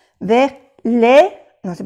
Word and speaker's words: les: Vous savez, vers, no se pronuncia la S, vers les, no se pronuncia la S, les. Ah, bueno, aquí sí se pronuncia porque le sigue una vocal, vers les intestins.